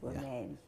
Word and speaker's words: Wameli: Wameli, that name disturbs me. You said it right. Yes, Wameli.